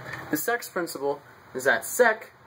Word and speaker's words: sec: sex principle is that sec when you say it like sec sounds like the word sex especially when you start